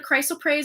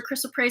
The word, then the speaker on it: chrysoprase: And then we got the chrysoprase or chrysoprase. I've heard it pronounced both ways.